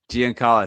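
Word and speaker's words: Giancarlo: that part right now first one Gian Cara Gian Cara thank you there you go there you go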